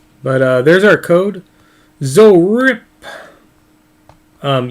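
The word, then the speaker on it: ZORIPP: uh there's our code zo rip um you have to say imagining there's an exclamation point at the end that's how it's pronounced is uh zoe rip um it's z-o-r-i-p-p two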